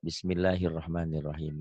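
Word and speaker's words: بسم الله الرحمن الرحيم: Hiya ini Hi doang hirnya dari sini nyambar ke Bismillahirrahmanirrahim gitu ya Kenapa ada Hir jadi ini nyambar ke sini Bismillahir ini kalau ini doang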